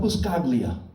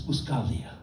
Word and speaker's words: Buscaglia: But then they made the G in my last name silent, so it will never be pronounced correctly by anyone. It's not Buscia. is Uscalia, but my first name is even worse.